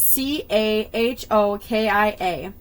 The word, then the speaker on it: Cahokia: Cahokia? Please don't trust that pronunciation. It is Cahokia.